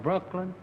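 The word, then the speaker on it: Brookeland: I'm from Brooklyn, Jasper County, Texas. This is Mr. and he is from Texas. The name of the town is Brooklyn, but it's spelled B-R-O-O-K-E-L-A-N-D.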